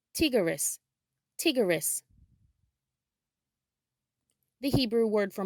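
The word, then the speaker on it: טיגריס: In Hebrew, tiger is pronounced tigris, tigris.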